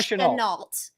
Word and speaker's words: Shenault: Last name is Try Chenault.